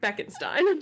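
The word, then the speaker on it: Bekenstein: Given the opportunity to colonize planets after the First Contact War, the System Alliance chose Beckenstein? Is that how we're pronouncing it? Beckenstein.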